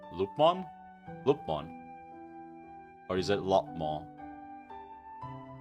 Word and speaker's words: Lopmon: How do you pronounce the name Lupmon? Lupmon? Lupmon? Or is it Lopmon? I guess it would be Lopmon, right? Because you don't have double O. So it wouldn't be Loop. It would be Lop.